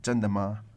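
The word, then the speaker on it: 真的吗: Give us the tones on that again. 真的吗? 真的 first and silent tone.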